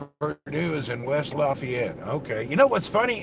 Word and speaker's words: Lafayette: wrong news in West Lafayette okay you know what's funny in Indiana you say Lafayette down in if you're in it's Lafayette we got a different way to pronounce it our diesel carburetor is